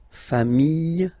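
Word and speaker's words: familles: the plural form okay remember singular form sh same pronunciation but you put this s okay final s not pronounced fam singular form fam plural form same pronunciation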